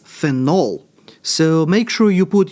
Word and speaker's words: phenol: And notice the difference in pronunciation. When it is a substituent, that is a phenyl. When it is this guy with the OH, that one is phenol.